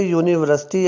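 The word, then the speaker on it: university: आवाज़ देती है, लेकिन यहाँ पे यूनिवर्सिटी अगर आप प्रोनाउंस करें तो जो यू है ये की आवाज़ दे रहा है, या की आवाज़ दे रहा है, आ की आवाज़ नहीं दे रहा।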